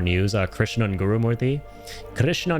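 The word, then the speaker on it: Guru-Murthy: Uh Krishna Gurumorti. Krishna Gurumorti. I'll pronounce his name correctly because I can.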